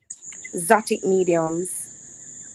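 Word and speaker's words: Xotiq Mediums: I don't know if it's not written in a way that I can understand but what what how do you pronounce it? Zotic mediums.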